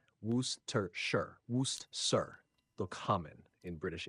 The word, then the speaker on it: Worcestershire: The pronunciation of Worcestershire sauce is simpler than it looks. Here's how to say it. Worcestershire, Worcestershire, though common in British English.